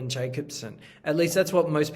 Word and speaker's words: Jakobson: He was actually originally from Russia, and so growing up, his name was Jakobson, which is how you say it in Russian.